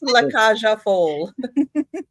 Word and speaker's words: La Cage aux Folles: So the first one I have is, you can try to pronounce that. I'm La not. Cage aux Folles. Okay, we'll go with that. Yes, it's La Cage aux Folles.